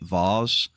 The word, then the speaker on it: vase: That that is how you actually say it. Vase, not vase. Okay. Vase is the correct way to say it.